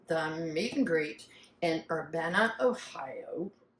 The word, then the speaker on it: Urbana: meet and greet in Urbana Ohio not how Urbana yeah not Urbana that's wrong that's not how you say it it's Urbana oh to the meet and